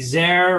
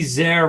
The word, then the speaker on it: Zare: Her name is Nancy Zare, and she wanted to make sure I said Nancy Zare rhymes with care.